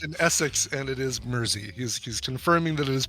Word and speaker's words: Mersey: I've lived in Essex, and it is Mersey. He's confirming that it is pronounced Mersey.